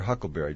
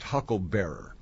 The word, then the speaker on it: huckleberry: I'll be your Huckleberry. Just a little side note. Actually, the term is pronounced Hucklebearer, and it came from back in the old days.